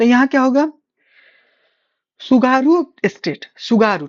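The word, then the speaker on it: Tsugaru: सुगारू T silent रहेगा। सुगारू। ठीक है ना? जैसे ये सो पढ़ते हैं ना तो ये सुगारू हो जाएगा। सुगारू स्टेट हो जाएगा।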